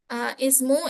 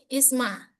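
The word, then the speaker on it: اسم: Nah, selanjutnya pada kata ismu, ismi, isma. Ya, ini juga dibaca kasroh.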